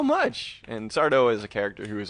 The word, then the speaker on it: Sardo: Sardo. No, mister. Accent on the dough.